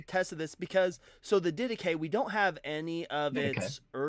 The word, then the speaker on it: Didache: Didache, Didache.